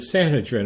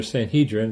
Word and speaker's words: Sanhedrin: They bring Jesus to the Sanhedrin, or Sanhedrin, it's pronounced a number of different ways.